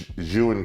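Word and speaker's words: Zhiyun: my gimbal which is the zhu and crane that's what you pronounce it's june uh june crane 3s my cameras live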